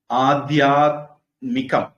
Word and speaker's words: ஆதியாத்மிகம்: பௌதிகம் பொதுவாது உச்சரிப்பு வந்து சரியான உச்சரிப்பு எப்படின்னா ஆதியாத்மிகம் மீ குறில் ஆதி தெய்விகம் வி குறில் ஆதி பௌதிகம் தீக்குறில் நாகரிகம் ரி குறில் ஆன்மீகம் மீக்குறில் இலக்கணப்படி அப்படிதான் வரும் நிறைய பேர் நீட்டி எழுதி பழகிட்டாங்க ஆன்மீகம் நாகரீகம் அப்படிங்கிற மாதிரி இப்போ ஆத்மிகம் இந்த